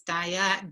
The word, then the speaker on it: dyad: to pronounce it correctly i think it is diet diet because normally people think it is something has something to do with food the way we are